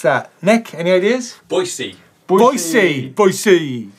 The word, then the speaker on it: Boise: or is it Boise how do you actually pronounce that Nick any ideas Boise Boise Boise right and finally say top of